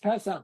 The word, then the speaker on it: Pesach: But Pesach, right? It's pronounced Pesach, right?